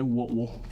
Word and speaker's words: Whitwell: this little town called Whitwell Tennessee and uh if you're from there they say woodwell I don't know how they spell it but that's how they say it and they're just happened